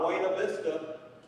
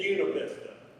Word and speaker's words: Buena Vista: It's not Buena Vista. It's Buena Vista. Because in Virginia, they pronounce everything wrong to tell whether or not you're a Yankee.